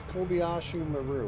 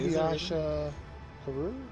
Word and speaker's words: Kobayashi Maru: No, it's a Kobayashi Maru. Wait, I didn't say it right. Oh, no way. Kobayashi Maru?